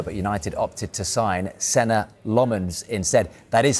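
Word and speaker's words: Lammens: of the window, but United opted to sign Lmens instead.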